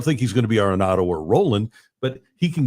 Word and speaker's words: Arenado: parliamentary procedure sir um I know it's pronounced arado but when we shorten it isn't it NATO see this is my